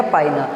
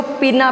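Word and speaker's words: pinna: अब कई लोग इसको पीना पीना भी क्या करते हैं? प्रोनाउंस करते हैं, जो कि गलत है। इसका करेक्ट प्रोनाउंसिएशन क्या है बेटा? पाइना। क्या है बेटा? पाइना। मैं लिख भी देता हूँ यहाँ पे। ठीक है, तो ध्यान रखना है, ये पाइना होता है, पिन्ना वगैरह कुछ नहीं होता।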